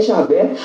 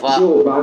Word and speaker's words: Javé: A pronúncia mais aceita pelos estudiosos é Javé, mas alguns usam também Jeová como uma forma de expressão desse nome.